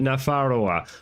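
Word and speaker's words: Nafarroa: No, I'm not going to um ah they pronounced it Nafaroa. Okay, so I'm I'm not crazy. The reason I'm I think in a previous Paradox game it was pronounced it it was spelled Navara.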